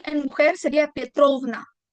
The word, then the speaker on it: Petrovna: Si el papá es Petro, sería Petrovic Petrovic y en mujer sería Petrovna. El acento en una ovna.